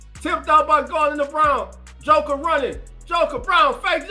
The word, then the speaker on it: Braun: It's Brown. Brown is playing a hell of a game. It's spelled like Braun, but it's pronounced Brown.